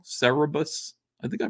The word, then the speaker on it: Cerebus: Cerebus he was an aardvark right did I pronounce it wrong Cerebus I think I pronounced her right yes Melissa